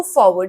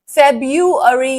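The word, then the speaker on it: February: Answer is फट्स move forward okay डिफिक difficult लगा क्या आपको ये? इसका बीच वाला आर ऑलमोस्ट साइलेंट होता है। फबरी इज द राइट आंसर।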